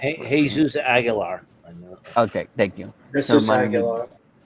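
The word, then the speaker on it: Jesús Aguilar: For the Braves, signed veteran first baseman / DH Jesus Aguilar. I believe that's how I pronounce it. Jesus Aguilar.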